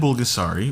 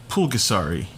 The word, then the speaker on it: Bulgasari: as starfish oh and bulgasari with the bee is the preferred spelling and pronunciation of south korea as it's a more modern translation of the old word north korea still uses the old word pulgasari they have a movie